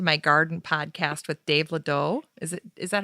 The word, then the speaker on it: Ledoux: I listened to your interview on the Back to My Garden podcast with Dave Ledoux. Is that how you say it? Oh, Ledoux?